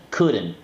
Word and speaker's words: couldn't: Y en negación, couldn't.